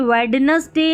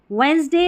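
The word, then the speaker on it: Wednesday: फिर देखिए डी यहाँ पर जैसे वेडनेसडे हैंडकरचीफ नहीं पढ़ते हैं, यहाँ पर डी साइलेंट रहता है। वेंसडे और हैंडकरचीफ यहाँ पर डी हम नहीं पढ़ते हैं।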